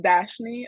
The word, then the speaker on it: Dashni: I now like to ask, perfect segue, Dashini, to come off mute, say hello, and tell us a little bit about yourself. It's my turn, right? Yes. Oh yeah, but it's pronounced Dashni. Oh, It's Dashni, okay.